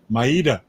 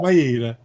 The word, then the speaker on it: Maida: thought, well, maybe it's Maida. Well, actually, that's the real Italiano way of pronouncing it. Italiano, Maida. But it's Americanized, it's Maida. Maida, very good.